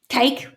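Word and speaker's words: KAKE: The television station is spelt K-A-K-E, cake, which must be Kansas something, K-E, I don't know.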